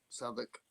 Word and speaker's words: Southwark: Southwark. More like Suffolk. Yeah, because you might look at that, mate. You might want to say Suffolk, mightn't you? But it's Suffolk.